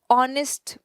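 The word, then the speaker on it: honest: Before a word beginning विथ एच, लेकिन उसे हम प्रोनाउंस नहीं कर रहे हैं, यानी कि वो साइलेंट है। And therefore beginning विद the sound of a vowel, जैसे हमने कहा एन आवर, एच से शुरू हो रहा है। ऑनेस्ट मैन, सो ये एच से शुरू हो रहा है लेकिन एच साइलेंट है, तो हमने इसके सामने भी आर्टिकल एन यूज किया।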